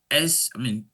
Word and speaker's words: Seun: So to pronounce my name is pronounced Seun.